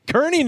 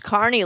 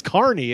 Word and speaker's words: Kearny: I say it correctly no it's Carney like like carival FK you're from kizar yeah okay it's Carney all right you know